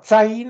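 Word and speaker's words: Zayin: Dieses Sain wird übrigens auch Zain ausgesprochen, die einen sprechen das mit einem S.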